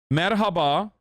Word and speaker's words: Merhaba: Merhaba.